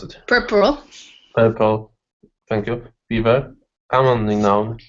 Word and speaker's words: puerperal: Semmelweis wanted to figure out why so many women in maternity wards were dying from I don't know how to pronounce it. Puerperal, Thank you.